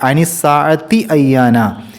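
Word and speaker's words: أَيَّانَ: എന്നുള്ളത് അനി ആവരുത് അതേപോലെ അനിസി അയ്യാന എന്നുള്ള സ്ഥലത്ത് വേഗതയിൽ പാരായണം ചെയ്യുമ്പോൾ അനിസി അയ്യാന അനിസി അയാ എന്നാവരുത് അനിസി അയ്യാന അവിടെ ഹംസ വേറിട്ടു തന്നെ കേൾക്കണം പിന്നീട് ഏറ്റവും അവസാനത്തെ 46ാമത്തെ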